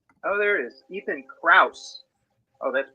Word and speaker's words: Krauss: you'll find him oh there it is Ethan Krauss oh that's pronounced Krauss yeah Krauss yeah on yep yeah